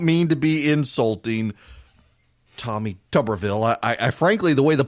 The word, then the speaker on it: Tuberville: to five and no I don't feel the need to say Tuberville instead of Tuberville I mean pronunciation Nazis call in you're saying it wrong you people can't say